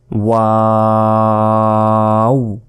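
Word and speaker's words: و: 4 second টেনে পড়বেন, ওয়াও, ওয়াও, দুই ঠোঁটের শূন্যময় স্থান থেকে এই ওয়া অক্ষরটি উচ্চারিত হয়, ওয়াও, হা, হা, আমরা আগেও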